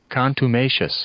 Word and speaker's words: contumacious: how to pronounce, is contumacious? Let's see here. One more time. Contumacious. Yes, I got it right. Contumacious. Like contemplative and like tenacious.